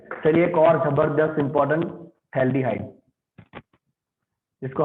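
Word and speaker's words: phthalaldehyde: चलिए एक और जबरदस्त इंपॉर्टेंट, थैल्डिहाइड, जिसको हम पढ़ते हैं पथाल्डिहाइड, बट इनफैक्ट इट इज थैल्डिहाइड, जहां पे 2 CH आजू बाजू में होगा, राइट, 2 CH आजू बाजू में होगा, उसको हम कहते हैं थाल्डिहाइड, पी साइलेंट, थाल्डिहाइड, राइट।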